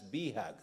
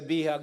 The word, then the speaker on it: BHAG: Blake, and your team have established programs that are designed to achieve the big, hairy, audacious goals pronounced from Harvard Business School as BHAG. So when you hear me BHAG, say BHAG, no, I have to